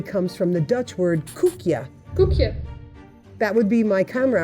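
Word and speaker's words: koekje: word cookie actually comes from the dutch word kookya that would be my camera operator who happens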